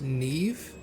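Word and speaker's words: Niamh: well professor hey Vanessa so her name is pronounced Neeve huh that's not how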